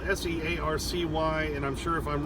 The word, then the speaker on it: Searcy: I'm down here at the Loves in Searcy, I think is how it's spelled, S-E-A-R-C-Y, and I'm sure if I'm wrong, somebody will correct me in the comments.